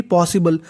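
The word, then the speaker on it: possible: है बी एल ई अगर आपको कहीं पर बी एल इ लिखा मिले तो उसे पढ़ना होता है बल क्या पढ़ना है बल और एस दो बार है उच्चारण एक बार करना है तो मीनिंग बन गई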